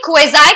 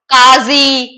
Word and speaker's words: quasi: But अच्छा पहले मुझे ये बताओ ये क्वेजाई का मतलब क्या होता है जिसको बहुत सारे तरीके से प्रोनाउंस करते हैं लोग काजी क्वेसी इट्स क्वेजाई okay what does क्वेजाई mean